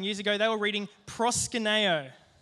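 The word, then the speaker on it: προσκυνέω: the one underneath it does anyone know how to pronounce that it's called prosper nayo Presa Canario can everyone say proskuneo cool does anyone know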